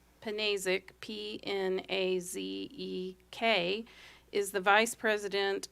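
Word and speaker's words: Pnazek: Panazek, P-N-A-Z-E-K, is the Vice President of Transmission Development for Invenergy.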